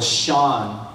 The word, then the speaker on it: Sean: And then, this is weird and long drawn out, but anyways, my brother is Michael Sean Bosch, because Sean rhymes with John.